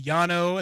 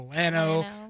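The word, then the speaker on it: Llano: Well, you know, in certain areas it's the Yano. In certain areas, it's the Lano, you know, right across the border in Texas.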